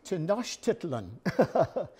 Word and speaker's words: Tenochtitlan: predated the Aztecs now you have trouble pronouncing this word it's tenochitlan and Tenochtitlan in the